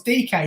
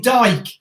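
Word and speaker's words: Dike: It's DK, isn't it? Yeah, because they keep calling him Dyke, and it's not right.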